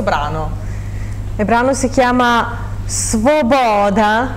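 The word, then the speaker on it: Свобода: Il brano si chiama Svoboda, lo pronuncio in ucraino perché è la parola ucraina, però viene scritta nel latino giusto per comodità.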